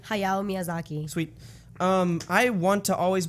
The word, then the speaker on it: Hayao Miyazaki: And did I pronounce his name right? Hayao Miyazaki.